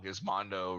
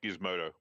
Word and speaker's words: Gizmodo: is the AV club gizmondo okay wow gizmondo really change and it's pronounced Gizmodo wow yeah oh giz